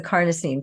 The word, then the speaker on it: carnosine: next pack is the carnosine patch carnosine rhymes with carne carne is the root